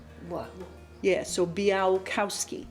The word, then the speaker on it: Białkowski: And the L in the name has a little line through it, which means it's pronounced kind of like a W. What? Yeah, so Białkowski. Białkowski.